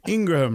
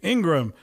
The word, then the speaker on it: Ingraham: you i guess but i guess it's ingram right ingram anyway either this woman